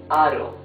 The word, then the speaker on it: aro: However, if the R is in the middle of the word and is not doubled, it's a smoother sound. Aro. You see, it's smoother. Aro.